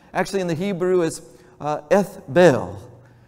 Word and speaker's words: Ethbaal: His name actually in the Hebrew is Ethbel. You actually would pronounce it Ethbaal, but that's a whole other thing.